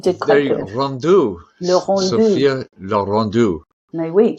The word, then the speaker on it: Le Rendu: I'm sure I pronounced it incorrectly. Sophia Le Rendu, but you did There quite you go, good. Rendu. Le Rendu.